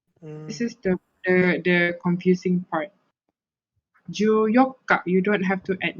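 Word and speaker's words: 十四日: But when it comes to the 14, this one you have to remember 14. It uses the same way of pronouncing as here. It uses the same pronounce as here. Here is yokka. Yoka. So when it comes to 14, it will be like ju yokka. You don't have to add nichi.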